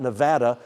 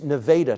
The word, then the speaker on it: Nevada: It's Italy, Texas, and it's not Nevada, Texas. It's Nevada, Texas.